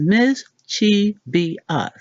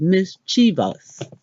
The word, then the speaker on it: mischievous: mischievious what we've been saying is miss Chi be up how to actually say it is mischievous to our credit there